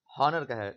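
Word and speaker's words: honour: अब आप देख, जैसे है ऑनर है, तो अमेरिकन में इसको हॉनर कहा जाएगा, क्योंकि उसमें साइलेंट वर्ड नहीं होते हैं। और ब्रिटिश में इसको ऑनर पढ़ेंगे, तो यहाँ पे साइलेंट वर्ड का भी एग्जाम्पल आप देख सकते हैं।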